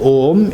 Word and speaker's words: Om: the the point is the first syllable oh oh this syllable at this syllable ohm is constituted of three letters are MA and these with letters they